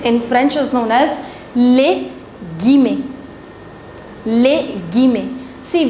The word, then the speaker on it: guillemets: The angular brackets in French is known as les guillemets, les guillemets. See, whenever ILL comes together in French, you do not pronounce double L. So it's guillemets.